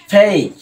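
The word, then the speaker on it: fake: এরপরেরটা দেখো, তারপরে কি আছে, ফেক, রাইট।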